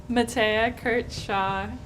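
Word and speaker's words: Mathea Kurtz-Shaw: thing is to say your full name and spell it matea kurt shaw m a t h e a k u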